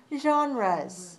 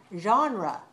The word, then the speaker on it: genre: an english word but we borrowed it from french and we pronounce it in english like this genre genre genre so if we